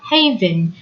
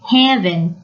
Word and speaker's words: haven: garden can be a haven from the hustle and bustle of life Haven not heaven hustle and bustle notice